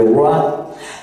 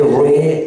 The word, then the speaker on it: roi: qui s'écrit O-I, hein, qui passe de oué ou oué à oua. Donc, le oué, hein, devient le roi. Mais on avait roué, ré, roi. Alors, le roi était la prononciation populaire, le roué était la prononciation aristocratique, roué, ré, prononciation aristocratique, roi, prononciation populaire.